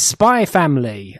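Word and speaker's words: Spy × Family: sorry everyone but it's spy family and it's one of these series that have an X in the middle but I am given to Tibby by told that the X is silent so it reads a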